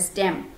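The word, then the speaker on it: STEM: and mathematics एसटी ईएम some times it is also pronounced as स्टेम in education equip students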